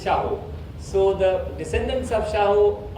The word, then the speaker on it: Shahu: And the descendants of Mir Shaho Khan, also sometimes pronounced Shahu, but it is Shahu.